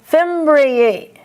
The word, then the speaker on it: fimbriae: The plural is fimbriae. You have to hear two vowels. Fimbriae.